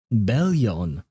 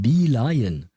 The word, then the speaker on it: Bee-Lion: So, for the past month, I've been calling him Bellion, or something along those lines. Bellion, something like that. I never, like, the thought never even crossed my mind that it would be pronounced Bee-Lion.